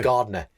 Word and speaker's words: Gardner: There's a D in there. Slap bang in the middle of my name.